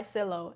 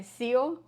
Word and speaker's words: Sillo: how is it pronounced I call it made by Silo and my family probably doesn't like that because our last name is hermosio so it should be made by Seal but I prefer Silo because it it it